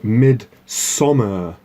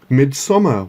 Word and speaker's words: Midsommar: Welcome to my film review of Midsommar. So it's not summer, it's sommer. Doesn't really matter how you spell it, I guess. But anyway, Midsommar.